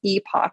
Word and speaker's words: Epoch: So the first 2 would be Transcend and Epic, or Epoch, depending on how people want to pronounce that.